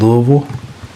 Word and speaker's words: Louisville: one to me is Louisville and just so you know I did pronounce that right if you live in Kentucky that's how you pronounce it Louisville it's not Louisville or Louisville it's Louisville